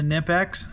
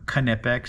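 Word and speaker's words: Knipex: They're a little bit smaller than the Nipex or Kipex as they like to say. Uh that's how I'm told it's pronounced, but they they work pretty well.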